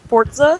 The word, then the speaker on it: Forza: It's a It's actually pronounced Forza.